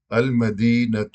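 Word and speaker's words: المدينة: اسی طرح مثلا المدینہ، لیکن اگر آگے ملا کر پڑھیں گے المدینۃ المنورہ، تب المدینہ کے آخر میں جو تا مربوطہ ہے اس کا تلفظ کیا جائے گا، اسے بولا جائے گا، اور اگر صرف المدینہ کہیں گے تب وہ تا جو ہے وہ ہا کی آواز میں بدل جائے گی۔ اسی طرح مکۃ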